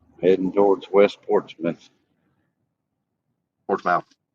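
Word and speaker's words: Portsmouth: Heading towards West Portsmith. Portmouth. No. Portmith. No, it's written as Portzmouth. No, it's pronounced Port Smith.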